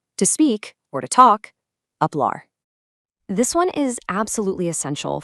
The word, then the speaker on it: hablar: Remember that silent H rule we talked about earlier? Apply it right here to express your thoughts. To speak, or to talk, hablar.